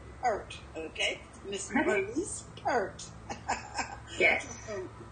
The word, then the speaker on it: Peart: Pronounce your last name? Peart. Peart, okay.